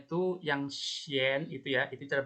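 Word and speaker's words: chien: Tapi ini cara bacanya sha dan xian. Sha itu kucing, xian itu anjing. Sha ya. Jadi C dan H, C dan H itu cara bacanya sh, sha sama xian.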